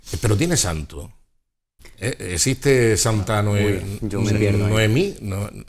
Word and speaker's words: Noemí: ¿Es Noemí o Noemi? ¿O Naomi? Naomi, desde luego, no. Yo creo que es Noemí, creo que lleva tilde en la I.